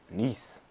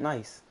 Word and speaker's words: Nice: All right, facing Nice, not nice, Nice.